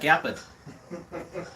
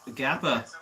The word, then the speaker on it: Gappa: Yeah, but yeah, that would be my go-to Gappa or Gappa. How do you say it? I say Gappa.